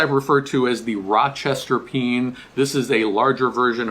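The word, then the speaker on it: Péan: east of the Mississippi we usually pronounce this pen P aan that's how it spell it's sort of like a bean like a can of beans okay this is a peen now on the West Coast or West of the miss Mississippi they'll often pronounce this a peon so you might hear that as well but this is a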